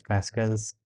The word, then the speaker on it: Pascal: before that why is Pascal's triangle such a thing why is Pascal's triangle important Like why do we need it? Pascal. Pascal. The pronunciation that we are going to go with is Pascal.